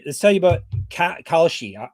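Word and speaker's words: Kalshi: Let's tell you about Kashi. I still aren't I don't think I'm pronouncing it properly still, but I know the she part. We'll say Kali. KAL SHI, that's the important part.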